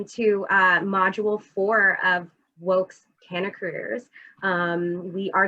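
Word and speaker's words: WAKE: of color in cannabis uh pronounced woke so w-a-k-e um we are founded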